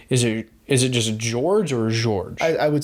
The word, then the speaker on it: Georges: his name but is it is it just george or george i would say georges georges yeah george and yeah they seem to pronounce the s because i think i thought